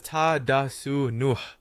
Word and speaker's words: Tadasana: For Tadasana, pronounce it as ta da su nuh, synonymous with mountain pose.